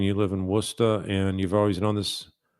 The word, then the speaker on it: Worcester: And yeah, so Tina's confirming it's pronounced Worcester.